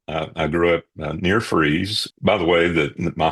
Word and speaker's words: Fries: I I grew up near Freeze, by the way. That my hometown is called Freeze, Virginia. It's spelled F R I E S, but it's pronounced freeze.